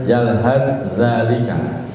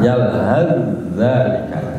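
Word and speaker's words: يلهث ذلك: Sebab banyak yang salah di luar sana, tetap bacanya yalhas zalika. Salah, yalhaz zalika, diidghamkan. Baik, kita lanjut.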